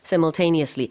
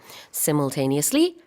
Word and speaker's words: simultaneously: simultaneously 발음은 두 가지가 있어요. simultaneously, simultaneously 둘 다돼요.